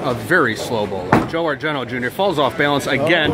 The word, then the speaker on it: Argento: That's Argent. Right. Okay, I get him confused all the time. Yeah, the O is silent.